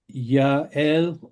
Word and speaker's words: Yael: Yes, another question from Ruth Michelson pointing out that Yael is the proper pronunciation of Ms. first name.